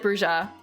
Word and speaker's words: bruja: that I think it's supposed to be like bruja oh I I I do not want AI mode. I I was doing bruha how to pronounce WTF instead of VTM. So they actually do say bruha I guess in bloodlines but otherwise it's bru bruha bruha bruha.